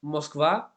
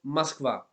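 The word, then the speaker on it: Москва: muy difícil verdad Pero cuando no es la sílaba acentuada se reduce a a por tanto para deciros no decimos moskva sino maskva o leche no es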